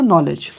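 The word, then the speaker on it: knowledge: देखो आपके सामने ए रहा है कौन सा नॉलेज नेक्स्ट नॉलेज तो अब हमें नॉलेज में ये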